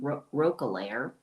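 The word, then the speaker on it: Roquelaure: She had a former uh pen name Roair. That's how you pronounce it.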